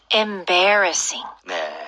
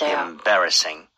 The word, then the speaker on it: embarrassing: 다음은요 뭔가 민망한 난처한 embarrassing네 embarassing 얘가 강세가 되게 중요해요 B 다 강세를 세게 꽝 주시고요 embarrassing 실제로 embarrass까지만 쓰면 남을